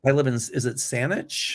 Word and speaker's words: Saanich: Oh, now, Kevin, you'll help me with these pronunciations. Lucy Mercer. Yeah. Is it Saanich?